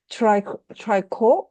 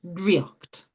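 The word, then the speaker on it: draíocht: I'm pronouncing this correct, Triorc, Kiel? Is that correct? No, no, Oh, no, not a bad attempt, not a bad attempt. The first word is driocht. Triorc. Irish word for magic is drí, and then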